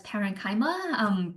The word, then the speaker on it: parenchyma: see is called the parenchyma cell. I have also heard it pronounced as parenchyma. Both are fine.